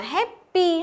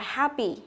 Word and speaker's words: happy: Tiếp theo, cái từ này cũng thế, mình không được đọc là happy, không phải âm E nhớ, mà nó là âm gì? E bẹt, đọc là happy, happy, ok?